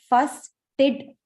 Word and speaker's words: fastidious: Actually, the way you pronounce is here, fastidious, fastidious. Okay.